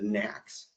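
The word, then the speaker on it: NAAQS: quality standards or uh, as we pronounce it in the air quality field, the the knacks.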